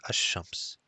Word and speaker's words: الشمس: For example, ash-shams al-shams is pronounced as ash-shams. And the assimilation is indicated by the shadda on the first letter of the noun.